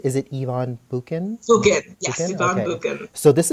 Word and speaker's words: Bukin: Bukin, yes, Ivan Bukin.